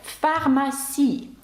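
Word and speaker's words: pharmacie: французькій Якщо вам цікаво наприклад таке слово як фармасі фармасі французькою - це слово аптека Ну і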